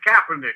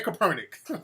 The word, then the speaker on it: Kaepernick: Now, RJ, is it Kaepernick or Kaepernick? It's Kaepernick. It's Colin Kaepernick. Oh, there you go. I'm calling the man Kaepernick. I'm all putting the emphasis on the wrong shit.